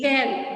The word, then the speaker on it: Galle: Ma'am ये जो 4th question में जगह का नाम बताया है इसका प्रोनाउंसिएशन गल्ले ही Gale, Gale Beach.